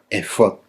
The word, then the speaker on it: efod: donde cuesta más porque es una palabra hebrea y que está escrito en las Biblias en español en la fonética hebrea original, porque así es como se pronuncia, efod.